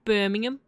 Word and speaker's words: Birmingham: In Birmingham. I know that that's how they say it in the UK. Birmingham, right? like you don't say the H.